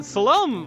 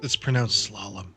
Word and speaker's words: Slalom: Now, Salome, I was actually a big fan of. Yeah, it's pronounced slalom. Slalom. Slalom. Yes. Not slalom. You said Salome. No, I said slalom, dog.